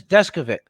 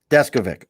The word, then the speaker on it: Deskovic: to say the uh discoverage is what i want to say that's pretty close uh the uh the uh pronunciation is desk of it deskovic all right cool see